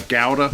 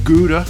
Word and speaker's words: gouda: nutty type of cheese like uh gowda or gouda as we say in the usa uh that could draw